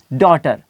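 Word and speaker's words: daughter: से कहता हूं की दी ए यू जी ह टी डॉटर और देखिए लिखा जा रहा है लेकिन पढ़ा नहीं जा रहा तो इसकी वजह ये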